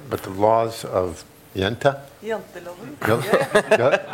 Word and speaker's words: Janteloven: about this concept of, I'm not going to pronounce it right, but the laws of Jenta? Janteloven.